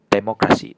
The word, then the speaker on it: demokrasi: And in Malay we also have two for democracy which is a loanword from English which is "demokrasi" "de-mo-KRA-si". So it's a "kra" sound.